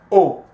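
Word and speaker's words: aux: combination will give us oh it's a ux right pronounce o okay now this sentence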